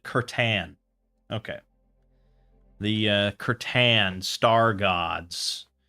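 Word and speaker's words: C'tan: Or maybe do, like, the Catan? Catan? I don't even know how they pronounce it. I will have to... Oh, they pronounce it Curtan.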